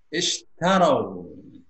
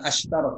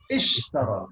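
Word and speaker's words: اشتروا: Ulaika, mereka itu alladzina, orang-orang yang ishtarau. Jadi bacanya bukan ashtaro tapi ishtaro. Kenapa huruf tengahnya A ya? A atau I huruf tengah itu alifnya dibaca I ya.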